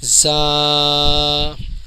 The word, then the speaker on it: ز: نقطہ ہوتا ہے، اور جس کا تلفظ ہے اس میں اوپری سی ٹی آتی ہے، زا، یہ صحیح تلفظ ہے۔ آگے بڑھتے ہیں۔